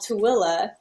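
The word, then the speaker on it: Tooele: yeah it's spelled manitoua yeah and there's called tooela in utah and it's spelled tully and so yeah i but i'm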